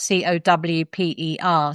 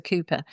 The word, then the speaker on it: Cowper: called Cooper, but actually it's spelled c o w p e r. So, lots of people call him Cowper, but actually it's a Cooper.